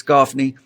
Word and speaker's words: Gaffney: Sorry, I pronounce it Gaffney, but it's Gaffney.